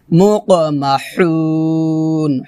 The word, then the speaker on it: مُقْمَحُونَ: ইলাল আযকানি ফাহুম মুকমাহুন মুকমাহুন হু হু হাটা খলকের মাঝখান থেকে চিকন করে বা চাপ দিয়ে উচ্চারণ করতে হবে মুক মাহুন এভাবে সম্পূর্ণ আয়াত একসাথে মিল